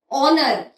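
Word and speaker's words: honour: ऑनर ऑनर की spelling H से शुरू होती है। लेकिन उसमें एच साइलेंट होता है।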